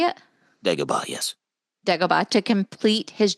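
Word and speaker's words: Dagobah: to deoa is that how you say it deoa yes DEA to complete his Jedi training he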